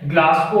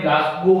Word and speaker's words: Glasgow: ग्लास को अपन generally बोलते हैं, प्रोनाउंसिएशन हमें ग्लास गो करना चाहिए, कोमा स्केल।